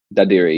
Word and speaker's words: Dadirri: Dadirri? Dadirri, yeah.